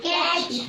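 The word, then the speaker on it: catch: और कैच में क्या साइलेंट है? टी। टी साइलेंट है। और टी साइलेंट कब होता है? हम बताए थे। कि अगर कोई भी वर्ड में टी सी एच आ जाए।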